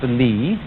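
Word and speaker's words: 理: Do you remember this word, which is pronounced Li, and which had as its original meaning the markings in jade, the fiber in muscle, or the grain in wood?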